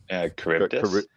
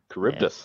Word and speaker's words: Charybdis: Charybdis. Charybdis.